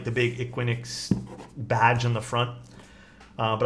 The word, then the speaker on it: IQUINIX: It's called the I guess it's pronounced IQUINIX. IQUINIX.